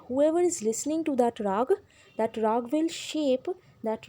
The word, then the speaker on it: Raga: century he invented many Raga now what is Raga actually it is called rag in your book I know it is written Raga but please pronounce it as rag now what is the